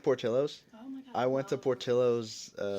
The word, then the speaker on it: Portillo's: shake also of course this is Portillo's is that how you say it yeah okay I read like a text in and I thought it was Portillo's wait where's the set